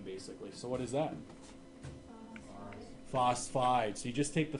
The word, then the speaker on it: phosphide: Phosphide. So you just take the first syllable. A lot of people say phosphoride. No, it's just phosphide.